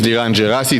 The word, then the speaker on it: Dan Jerasi: Um yeah, so my name is Dan Jerasi. That's the right way to pronounce my name.